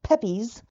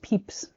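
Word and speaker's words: Pepys: This guy named Samuel Pepes. Oh, so I've said that for years and and had an unfortunate reckoning. It's I knew you would know. Technically pronounced Peeps.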